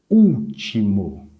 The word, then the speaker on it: último: A alternativa D traz a palavra último. Último. Primeiro passo, vamos identificar a sílaba mais forte.